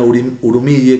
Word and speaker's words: Urmia: eran de Azerbaiyán Occidental, de la provincia de Urmia, Urumille, como dice usted siempre, con la pronunciación original, y de familias cristianas caldeas, pero bueno, con impronta fuertemente ligada a la cultura túrquica, ¿no?